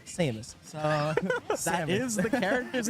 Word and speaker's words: Samus: Sora and Jessica along with popular opinion is pronounced Samus so that is the character's name amazing and